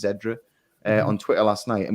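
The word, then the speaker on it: Xedra: was talking with them i'm not sure how you pronounce her name zedra it's x-e-d-r-a i think it's zedra on twitter last night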